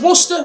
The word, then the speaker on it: Worcester: sauce worcester or winchester is it worcester or worcester or what i don't even know i'm pretty sure the locals just pronounce it worcester the correct answer is worcester what's the sauce which